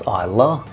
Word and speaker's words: Islay: Nicknamed the Whiskey Island, Isa is spelled I sleigh, but it's pronounced Isa.